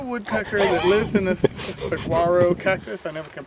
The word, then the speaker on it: saguaro: there is a woodpecker that lives in this saguaro cactus. I never can pronounce that.